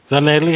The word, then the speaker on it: Zanele: To Gus, to Justice, and Zanele. Have I pronounced your name right? Yeah, that's fine.